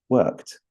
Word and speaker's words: worked: changes a little bit with the K plus Ed it sounds like there's a t at the end worked in the next sentence